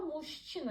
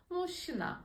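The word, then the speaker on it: мужчина: Burada muşçina yazılıyor. Fakat biz bunu fontik kural gereği böyle okumuyoruz. Muşina şeklinde telaffuz ediyoruz.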